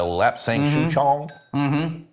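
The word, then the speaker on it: lapsang souchong: too but Smoky tea yeah like almost a lap sanction I think that's the right way I'm saying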